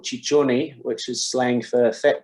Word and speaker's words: Ciccione: How do you pronounce that? Ciccione.